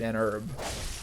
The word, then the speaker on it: herb: that's so stupid and was like actually it's pronounced herb so it's you you received an herb we're like shut up but he was right